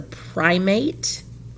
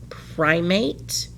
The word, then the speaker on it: primate: We have an open syllable here. And then we have VCE syllables on the back. Remember, now that we know open syllables, we don't always follow that rule that states that one consonant in between 2 vowels go with the first syllable. If we did, it would be primate, That doesn't even make sense.